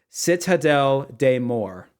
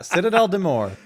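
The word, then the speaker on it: Citadelle des Morts: here we go uh for those who don't speak French it's pronounced Citadel de Moore don't mess this up that's what they say don't mess this up yeah Citadel de Mo so that's Citadel de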